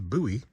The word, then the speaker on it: Bowie: We are just south of I-10, just south of Bowie, Arizona. Spelled like Bowie, but I've learned it's pronounced Bowie.